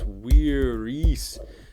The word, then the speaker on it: viris: It's not men. No, it's viris. So that's a long I there. You can tell by scanning, and that is a long I, which makes this form of vis.